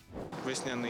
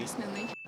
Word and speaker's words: весняний: казали весняний чи весняний обидва варіанти правильні словник запевняє що у цьому слові наголос подвійний весняний ве весняний весняний